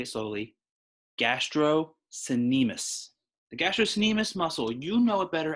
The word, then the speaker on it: gastrocnemius: is known as the gastrocnemius yes that's hard pronounced i'll say it slowly gastro the gastrocnemius muscle you know it better as your calves